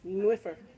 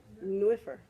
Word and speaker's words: nwyfre: Nwyfre. Nwyfre. Nwyfre. Yeah. Welsh is fun. N like Nancy. W-Y. F like Fred. R like Reginald. And E again. Nwyfre. W's in Welsh are always ooh.